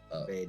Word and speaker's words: Badon: Yeah, like the bay and like the dawn of the sun. Badon.